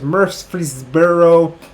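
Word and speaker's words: Murfreesboro: easier to pronounce it because mercedes-berrow this is how it's pronounced it's really weird and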